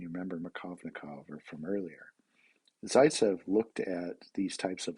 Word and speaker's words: Zaitsev: this name spelled phonetically various ways but it's pronounced saitzev he was actually a a colleague of markovnikov and you remember makovnikov from earlier zaitsev looked at these types of elimination reactions and